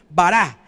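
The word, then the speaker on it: ברא: es una sola palabra que se escribe para sí así nomás como suena vara y esa palabra tiene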